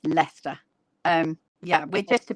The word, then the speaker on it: Leicester: And before we had that that I can also say Leicester, I was like, why the heck does this word have so many letters which you don't say?